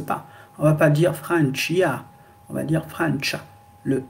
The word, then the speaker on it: Francia: la France, par exemple, la France en italien, c'est Francia. Tcha. C'est le tcha. Tcha. Le i n'existe pas. On va pas dire Francia.